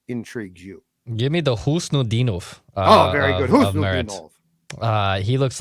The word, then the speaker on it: Khusnutdinov: According to Gord Miller, who calls the World Juniors for TSN, it's Khusnutdinov.